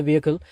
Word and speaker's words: vehicle: Traffic police சொல்றாரு, stop the வெஹிக்கிள், VEHICLE, வெஹிக்கிள் வெஹிக்கிள் அப்படின்னு தான் உச்சரிக்கணும், சரிங்களா?